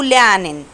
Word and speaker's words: lernen: Dich kennen zu lernen. Dich هقسمها عشان أعرف أقراها. Dich kennen zu lernen. حرف الإر أنا ما نطقتوش عشان قبليه فوقال.